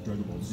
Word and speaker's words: Dragon Ball Z: And he was like, oh yeah, actually it's Dragon Ball Z. You pronounce the Z like the letter.